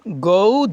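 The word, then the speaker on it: go: গোকে যাই, গোকে ইট খাই, গোকে বলবেন গৌ, গো। বিদেশিরা গৌ বলে, গো।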